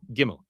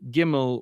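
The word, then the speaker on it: גימל: Hebrew order of letters, the next letter is gimmel.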